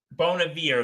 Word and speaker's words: Bon Iver: I don't know much of his music but Bon Iver beating Nicki Minaj for oh Bon Air yeah I know Bon Air Bon Air that's how you say his name okay thank